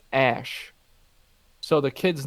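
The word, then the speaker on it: Æ: supposed to pronounce it the AE symbol that's in the middle there is pronounced ash so the kid's name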